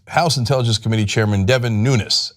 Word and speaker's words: Nunes: Well, we've got more drama and problems with House Intelligence Committee Chairman Devin Nunes. And by the way, it turns out that is how his name is pronounced. He's Portuguese.